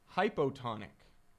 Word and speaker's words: hypotonic: Hypotonic. Hypo, O rhymes with low.